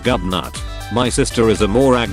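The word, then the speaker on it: Gobnait: his name is ridiculous there's a pretty bad irish name gobnate pronounced gubnut my sister is a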